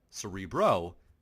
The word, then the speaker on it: Cerebro: And this is something that has been, and no, I'm not mispronouncing that, Cerebro is the predecessor, okay?